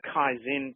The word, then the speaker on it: Kaizen: And there's one other thought I'd like to share with everyone today on that, and that's the Kaizen principle. And I'll spell that for you.